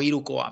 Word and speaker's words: Hirukoa: encargo de la editorial hirukoa o hirukoa mejor dicho sin pronunciar la vale Eh bueno Esto